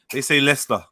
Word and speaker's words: Leicester: They say Leicester. Oh, Leicester. Okay, Leicester. Or Leicestershire or Leicestershire. It depends on how you want to say it. But yeah, most people say Leicester.